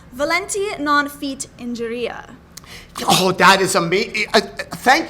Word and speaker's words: volenti non fit injuria: You have to tell me about this phrase, which kind of ties right into nerves, and it's volenti non fit injuria. Oh, that is amazing. Thank you for pronouncing that properly.